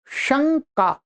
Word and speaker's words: शंका: शुद्ध उच्चारण आपका होगा शंका न की ध्वनि आती है।